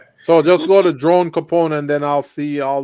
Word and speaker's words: Copone: just go to drone Capone and then I'll see all those um he spell it c o p o n e so it's like coone so drone Capone yeah c o p